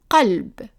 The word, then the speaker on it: قلب: So we have here the word heart, and in Arabic, in modern standard Arabic, it's pronounced qalb, qalb.